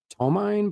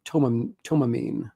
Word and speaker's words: Tomine: I always pronounced his last name in the beginning. Adrien Tomine, but I think it's it's Tom toamine, I believe.